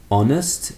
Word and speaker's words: honest: But we also have the silent h in words like honest. Honest and honor. Honor.